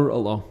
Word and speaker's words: Rollo: Spell Rollo. R-O-L-L-O. Unlike the candy, which only has one L. But it's pronounced the same.